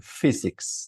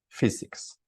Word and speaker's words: physics: I studied for 5 years in order to get my BS in physics, ¿no? Physics. Esa PH empezando es como una F, physics.